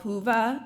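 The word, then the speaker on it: Whova: a virtual app called hoova it's spelled wh oova for interpreters and captioners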